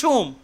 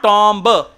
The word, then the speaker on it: tomb: इसको इंग्लिश में प्रोनाउंस करते हैं टोम, टोम, या नॉट टॉम्ब, बॉम्ब, या।